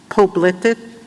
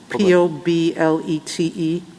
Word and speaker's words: Poblete: I'm pronouncing it wrong, Poblete, P-O-B-L-E-T-E. Federal law. Well, how do you say it? Poblete. Poblete. Okay. I should have said it in Spanish to start with. It is poblete.